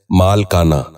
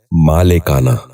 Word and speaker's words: مالکانہ: غور سے سنیے، مالک۔ ساتواں لفظ ہے مالکانہ۔ یہ غلط تلفظ ہے، درست تلفظ ہے مالکانہ۔ دوبارہ سنیے، مالکانہ۔ بچوں